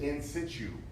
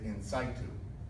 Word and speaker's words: in situ: Now, the top one, the first one, my mentor, Dr. George Callahan, pronounced it in situ, as in situation. My mom, who's in the medical field, pronounces it in situ.